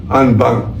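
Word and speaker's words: en banc: Ang ibig sabihin na unbank buong-buo ang prun ang ang spelling po niyan ay NB bank. Pero ang pronunciation po niyan ay unbank.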